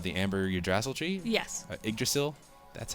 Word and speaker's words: Yggdrasil: Yggdrasil. That's how you pronounce that, isn't it?